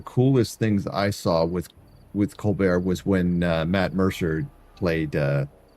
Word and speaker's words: Colbert: How do you say his name? Colbert? It's Colbert. Yeah.